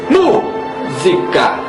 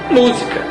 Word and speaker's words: música: leitura de um texto não dizemos música Só por ser acentuada a sílaba mu e sim pronunciamos naturalmente música ocorrendo o assento sem percebermos sem provocarmos pois já faz